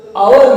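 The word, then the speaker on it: hour: तो आवर में शुरुआत में एच है लेकिन इसको साइलेंट पढ़ा जाता है, यहाँ पे एच की आवाज नहीं निकल रही है, ओ की निकल रही है।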